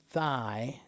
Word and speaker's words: thigh: Are sin and thigh pronounced the same? No. Thigh. Thigh is just thigh. It's not that hard. Thigh. There's no GH sound in it.